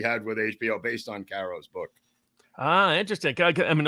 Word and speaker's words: Caro: you pronounce his name is it Cairo or Caro Caro Caro like the syrup I think yeah it's